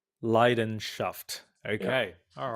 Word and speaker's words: Leidenschaft: How do you pronounce it again? Leidenschaft. Leidenschaft.